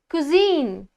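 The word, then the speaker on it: cuisine: Okay, कुजीन, कुजीन, इसको अच्छे से प्रोनाउंस कैसे करते हैं, कुजीन।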